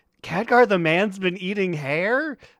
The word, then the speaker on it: Khadgar: your, or they're like, okay, it's Khadgar, and they're like, Catgar? And I'm like, no, not Catgar.